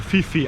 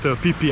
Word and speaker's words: Phi Phi: to krabi to the pipi islands well i pronounce it like locals actually it is written phi which tourists usually spell as fifi islands but it is not uh locals call it pipi islands so what is awaiting